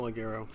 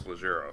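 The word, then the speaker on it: Lyonne: to apologize to Natasha lero well first of all you have to apologize for saying her name wrong it's leero leero I'm sorry you know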